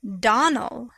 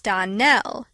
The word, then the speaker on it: Donnell: you pronounced our name Donal now miss surely the correct pronunciation of our name is DaNell Accent on the last syllable I hope you'll remember